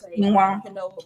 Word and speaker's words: quinoa: That's like when people try to say quinoa. Oh my God, it's quinoa. I don't even know the word. I don't even want to know. Quinoa. It's pronounced it's actually quinoa, but people pronounce it quinoa.